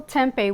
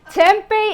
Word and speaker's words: Tempeh: in Arizona no well it's actually kind of spelled the same it's actually with an H at the end or just to eat either way so the Tempe is it's very tempting